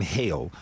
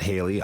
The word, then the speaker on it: Hale: for mispronouncing your name it's hail not Haley I apologize for that